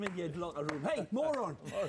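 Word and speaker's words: Morón: This guy's name is Loren Moron, but it's spelled Moron.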